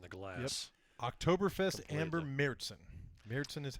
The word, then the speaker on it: Märzen: Märzen. I'm telling you, that is how you pronounce it.